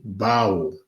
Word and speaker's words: bau: en français mais en kikongo ça se dit Bao B a u qui se prononce donc ba alors euh lorsque nous prenons